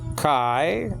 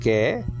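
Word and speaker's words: καί: And then and Greek word kai, nowadays pronounced ke, has given us, and that's easy.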